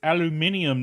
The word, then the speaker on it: aluminum: All the Brits who like to say it's aluminium, not aluminum.